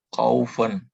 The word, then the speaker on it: kaufen: AU tadi di sini dibaca AO. Jadi kaufen. Kaufen.